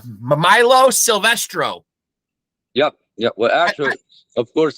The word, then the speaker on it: Silvestro: MILO Silvestro. Yep. Well, actually, of course, in Italian we say Silvestro. But Silvestro.